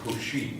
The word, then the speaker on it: Cauchy: yesterday this is actually due to Cauchy, or Cauchy, if you pronounce it in a semi-French way.